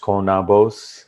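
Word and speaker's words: Konabos: do that um again we are from konobos uh it's pronounced konnabos it's interesting and it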